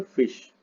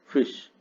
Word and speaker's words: Frisch: के थे अर्थशास्त्री Ragnar फिश, RAGNAR, Ragnar, spelling है FRISCH, लेकिन हिंदी में लिखते हैं रेगनर, रेगनर फिश, हिंदी में ऐसे लिखते हैं।